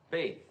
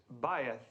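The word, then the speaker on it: בית: Faith. Well, almost right, Mr. Crane, thank you. The correct pronunciation is bayeth.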